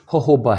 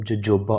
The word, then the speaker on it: jojoba: बोला जाता है, जबकि ये जो वर्ड है ये होहोबा है, लिहाजा होहोबा ऑयल हम कहेंगे रोगने अनाब को, इसको हम जोजोबा ऑयल नहीं कहेंगे।